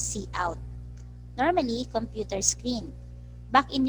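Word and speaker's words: cout: the next one is c out pronounce c out normally computer screen back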